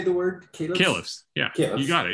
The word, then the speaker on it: caliphs: Caliphs, yeah, caliphs.